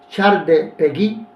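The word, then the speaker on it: Charles Péguy: charde pegi este francés se escribe peg Charles pegi pero se pronuncia char pegi un poeta francés decía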